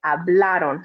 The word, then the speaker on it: hablaron: say hablaron but you say hablaron so making sure that that a is in the middle is the strong one so that's and that's